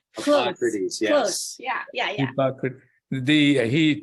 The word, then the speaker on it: Hippocrates: I was telling you that Hippocrates, did I pronounce correctly? Hippocrates, yes.